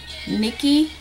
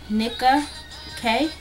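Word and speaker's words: Nicka K: I am using Nikki, or I think that's how you say it. Nika K, N-I-C-K-A-K.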